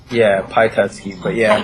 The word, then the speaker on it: Pyatetsky: Am I pronouncing that correct? Yeah, Pyatetsky, but yeah, Pyatetsky.